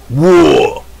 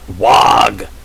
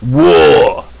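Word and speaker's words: Waaagh: W-A-A-A, however many A's you want, G-H, is pronounced WAR. Not WAG. It's WAR.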